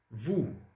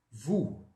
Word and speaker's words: vous: Vous. Tá bom? Vous. Ou seja, ou no francês, pessoal, sempre som de U.